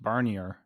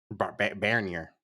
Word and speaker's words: Barnier: Unlike Macron, I thought it was pronounced Barnier. Barer.